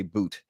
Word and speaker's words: Bout: about I'm calling him bout I heard Corinne Jean-Pierre say Boot and I'm sure Corrine is correct in her pronunciation but I'm calling him bout so um that idea